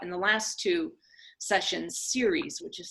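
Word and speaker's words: Ceres: were talking about in the last two sessions series which is spelled c e ar e s is the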